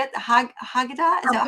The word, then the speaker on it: Haggadah: Haggadah? Is that how you Haggadah. Haggadah? Haggadah. Okay, I was close in my Yeah, pronunciation.